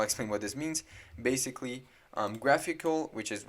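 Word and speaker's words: GraphiQL: graphql which i'll explain what this means basically graphical which is how you say this it's just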